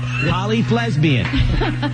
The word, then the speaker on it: Polyflesbian: Polyflesbian. It's like lesbian with an F. See, there you go. I knew that would come up. Polyflesbian.